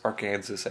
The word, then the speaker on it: Arkansas: joke about our Kings our Arkansas which is Arkansas actually I think we Canadians need to get the pronunciation right of the American states Arkansas thank you cyclists about